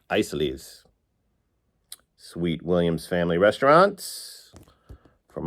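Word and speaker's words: Isaly's: This is the Isleys disc, which I pronounced Isleys, I believe, the first time I showed it. And in Western Pennsylvania, it is pronounced Isleys.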